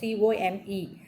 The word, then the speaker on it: cwm: in the western Guam, that should be pronounced as come. ஆக்சுவலாக எப்படி pronounce பண்ணுவோம், COME, பட் அதில் வந்து ஒரு இக் சவுண்ட் சேர்த்தோம்னா எப்படி ப்ரொனவுன்ஸ் பண்ணுவோம், கம் அப்படி சொல்லுவோம் இல்லையா. That has டு be pronounce like that, CWM, come.